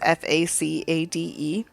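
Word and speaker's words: façade: bottom of it and it's a French word and it's pronounced facade and uh I have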